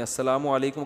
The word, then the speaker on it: السلام علیکم: السلام علیکم اور صلی اللہ علیہ وسلم کا صحیح تلفظ بتا دیں. السلام علیکم کا ہے السلام علیکم.